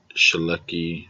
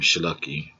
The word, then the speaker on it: Sulecki: Now, even though I pronounced his name Sulecki, but HBO commentators is saying, if you know Polish names, there's always like a silent N in a lot of their names.